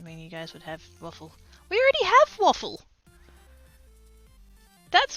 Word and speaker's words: WAFL: down is literally that it's wafl and we literally pronounce it waffle so already a thing